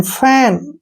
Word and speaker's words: fan: जैसे CAP, कैप, CAP, कैप, CAN, कैन, FAN, फैन, ठीक है ना।